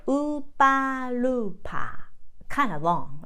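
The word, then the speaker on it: ウーパールーパー: I wrote it down in R because it's a Roman letter, but Japanese we don't pronounce as a R. We say more L sound. So upa lu pa.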